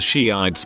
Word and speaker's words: Shiites: I remember in high school one girl was giving a presentation on something and kept mentioning the Shiites but pronounced it shites for her whole 10-minute thing.